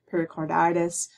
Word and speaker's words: pericarditis: a phonetic spelling in parentheses, and the stressed syllables are always in capital letters. So for example, in this one, pericarditis, that means the die here is capitalized.